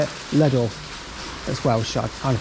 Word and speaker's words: Llanelli: Llanelli.